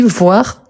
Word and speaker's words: voir: Ici, voir le verbe, on prononce le R à la fin.